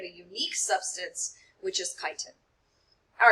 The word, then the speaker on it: chitin: Looks like it should be pronounced chitin, but it is not. It is chitin.